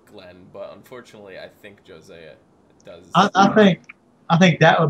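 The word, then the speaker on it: Jozea: So far, out of Glenn and Josiah, how do you pronounce his name? Jose.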